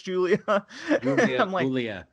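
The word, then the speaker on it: Giulia: I pronounce her name it's like GI you gives a cue Lea pretty sure it's Julia Lea yeah I'm like listening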